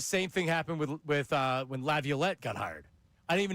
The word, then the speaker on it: Laviolette: they're hiring this guy, and I pronounced his name wrong. He goes, Peter Laviolette?